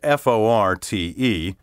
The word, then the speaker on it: forte: piano which means soft now when you use the word spelled fo r te to mean a strong point specialty something at which a person excels it should be pronounced in one syllable fort the English fort comes from a French word spelled fo RT which means strong and is also pronounced in one syllable but without the T sound at the end if you doubt my